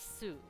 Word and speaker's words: 酢: If you're paying attention to the Japanese, the word for vinegar is su.